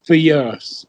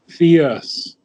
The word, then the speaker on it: fierce: Indian English would pronounce fierce fierce but it's just Fier okay it's not fear it's not two syllables it's one it's fierce fierce fierce